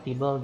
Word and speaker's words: tbl: Jadi TBL itu dibacanya table, gitu ya.